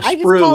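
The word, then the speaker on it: sprue: A sprew is the plastic frame.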